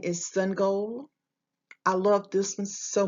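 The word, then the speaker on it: Sangoel: What he chose to do was to draw a picture of symbols, the sun and a goal, to help them to know the correct way of pronouncing his name.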